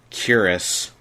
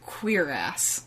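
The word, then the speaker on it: cuirass: and you're only wearing a curus torso armor bodysuit that doesn't protect that it's pronounced queer ass oh okay um then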